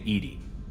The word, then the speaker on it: EDI: airlock is a jar why are you named edie edie is the phonetic pronunciation of e that is an acronym for